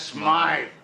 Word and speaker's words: Smythe: Mr. Smith is closing up his shop. That's Smythe.